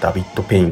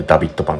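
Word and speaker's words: David Pain: お店ですねダビッドペインと書いてダビッドパンですここはフランス人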